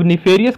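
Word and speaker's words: nefarious: तो निफेरियस के अंदर आप अगर देखेंगे जो फेरी है, बीच में मेजर प्रोनाउंस फेरी की आ रही है, निफेरियस, Pheri, F ए आर आई।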